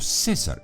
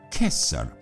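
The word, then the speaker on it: Caesar: se leía es más las palabras Julio César en latín no se dicen Así se dicen Julio kessar porque la c en latín siempre se leía como una K ahora el Por qué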